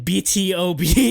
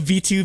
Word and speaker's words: BtoB: it's it's exid and BtoB instead of v2 because you wouldn't normally think you print you pronounce the letter then pronounce like 2 and then pronounce the letter like it's like k-pop k-pop